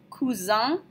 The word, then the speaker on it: cousin: we're going to take our boy cousin kou Zhong with a nasal sound at the end um kou Zhong when